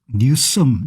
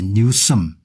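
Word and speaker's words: Newsom: 여기 이제 보시면은 이양반이 이제 갑은 개빈이 발음을 뉴 뉴스 뉴섬 뉴섬이라고 하겠네요. 개빈 뉴섬 예 생기기는 잘 생겼네요.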